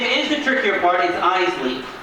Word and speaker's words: Iseli: is the trickier parties Eisley not not izelli Eisley two syllables eyes Lee you guys got it